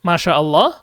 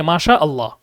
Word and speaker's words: মাশাআল্লাহ: পেরেছেন সকলে খেয়াল করেন মাশাল্লাহ বলতে কোন শব্দ নাই মূলত শব্দটা হবে কি? মাশাআল্লাহ। মাশাআল্লাহ।